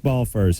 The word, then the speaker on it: Balfour: physician yeah board-certified physician addiction medicine specialist Eric ball furs our guest tonight I pronounced that right yeah you pronounce that excellently